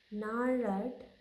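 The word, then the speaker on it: gnarled: रिसा sighting ए fathers नार्ड नार्ड disease इसमें जी silent है नार्ड में जी एन ए आर एल ई डी जी इ silent then we have to pronounce N ए आर एलईडी ली नाड तो क्या करता है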